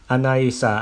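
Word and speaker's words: anicca: meditation I said dyma Anissa Anissa and mother Anita Anita pronouncing the word as they do in Burmese she lifted her right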